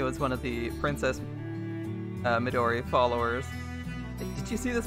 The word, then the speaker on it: Midori: about to start and it's really hard not to put emphasis on any syllables in Midori or to put even emphasis it's like I always want to put emphasis on the the me or the dough and you're just not supposed to do that just like saki